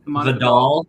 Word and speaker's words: Vidal: I think Vidal, how do you say his name? Kamani Vidal. Vidal. Oh, I was wrong on both of my guesses. Vidal.